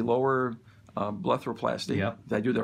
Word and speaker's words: blepharoplasty: We did the, if I pronounce it correctly, lower blepharoplasty.